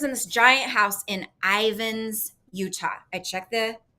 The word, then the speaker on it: Ivins: And so she lives in this giant house in Ivins, Utah. I checked the pronunciation on that. That's correct. All right. So she lives in Ivins.